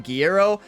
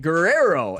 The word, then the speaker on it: Guerrero: thank you uh whoever pointed out is pronouncing Guerrero wrong I think I was calling him guerro I mean most of my name pronunciations are off about 50% of the time but you know this one I was way off right Guerrero am I